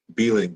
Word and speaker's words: Behling: how do you say your last name beeing beling beling is the author of beneath beneath